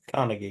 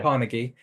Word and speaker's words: Carnegie: Natural History the Cari that is pronounced right carnegi yeah carnegi the Carnegie Museum of natural history